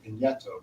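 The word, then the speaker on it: Pigneto: And then at another point, we went to, which I was just taught how to pronounce this last night, in an Italian bookstore in Boston, Pineto, which is kind of the Brooklyn of Rome.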